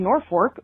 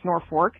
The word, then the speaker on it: Norfolk: names first we have Norfork which is spelled Norfolk but pronounced Norfork and if you say